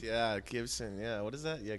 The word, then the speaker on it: Gibson: No, the guitar company that starts with a G and rhymes with Ibsen. Right. Yeah, Gibson.